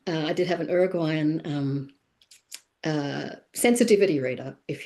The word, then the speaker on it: Uruguayan: And I did have a I say Uruguayan because that's how they pronounce it. Uruguayan. I did have an Uruguayan um uh sensitivity reader, if you like.